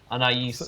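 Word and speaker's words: Anaïs: Anais is how they pronounce it.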